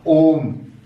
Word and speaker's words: ओम: तो इस 3 का अर्थ है कि ओ का उच्चारण कम से कम 3 मात्राओं इतना हम करें। जैसे हम ओम, ऐसे ओ का उच्चारण लंबा करते हैं और फिर मैं को बोल करके इसको समाप्त कर देते हैं।